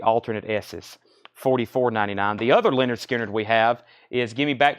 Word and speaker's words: Lynyrd Skynyrd: them have seen splits Lynyrd Skynyrd pronounced Lynyrd Skynyrd that's once again the